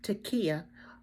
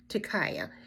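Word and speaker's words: tekiah: sound amen so the first sound you're here is Takia or Takaya it depends on what translation and what uh what place you go for pronunciation amen so here is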